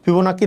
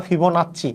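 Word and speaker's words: Fibonacci: শুরু হইছে এখানে একচুয়ালি ফিবোনাক্কি ধারা শূন্য থেকে নরমালি শুরু হয় ফিবোনাক্কি ধারা কোনটা জিনিস যদিও নামটা হচ্ছে ফিবোনাক্কি বা ফিবোনাচি দুইটাই বলা হয় ফিবোনাচি বা ফিবোনাক্কি দুইভাবেই উচ্চারণ করা হয় ফিবনাচি বা ফিবোনাক্কি এই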